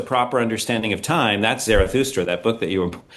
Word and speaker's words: Zarathustra: That's how the Greeks spelled and said the name Zarathustra, which is, I guess, I don't speak the relevant language, but Zarathustra, I guess, is a more authentic pronunciation of what that guy's actual name was. Zoroaster is the Greek appropriation of that name.